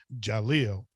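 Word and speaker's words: D'Jahlil: he named his son Jaleel, but still spelled it D apostrophe J, Right. and D is silent.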